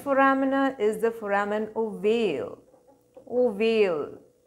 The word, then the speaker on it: ovale: is the foramen ovale ovale oval shaped it rhymes with the word male and male is the